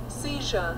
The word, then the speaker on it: seizure: 영국식으로는 seizure라고 그러지. seizure. seizure. R 발음을 하지 않지.